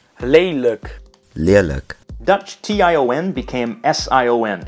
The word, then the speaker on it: lelijk: prys, But Dutch words ending with lijk, pronounced as lik, are spelled lik in Afrikaans. And that's a more accurate reflection of the real pronunciation. Lelijk.